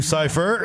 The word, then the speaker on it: Cifer: Also, And it's Cipher. And like Cipher, no, but this is spelled Cifer. Yeah. So like a Cipher.